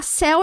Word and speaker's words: céu: Céu é um monossílabo, beleza? Céu é um monossílabo. Tem muita gente que acha que céu se separa. Céu não se separa, tá? É um monossílabo. Uma única sílaba.